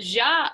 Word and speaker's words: ja: Ja, ich komme aus Tennessee. So the ja, it's not ja, it's ja. So exactly. No hard J's. All J's are pronounced. All J's are Y. Y sound, okay.